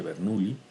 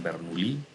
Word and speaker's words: Bernoulli: ecuación se conoce como ecuación de bernoulli algunos pronuncian bernolí no hay ningún problema ambas son válidas es la conservación de